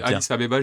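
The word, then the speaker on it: Addis Abeba: jusqu'à copenhag au Danemark je crois que ça se prononce adis Abiba voilà autant pour moi adisabba j'y été c'est vrai ou 3 mois j'ai passé et alors ça se dit adis Abba ok super j'ai cru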